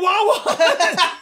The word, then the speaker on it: Wawa: Bitch, we know you're a Wawa. Nobody else calls their sandwiches shorties. It's like you didn't want to call out Wawa. I went to a convenience store. Rhymes with ha ha.